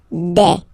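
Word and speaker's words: des: Okay, and then the plural form, de. Alright, here S, you pronounce it like e.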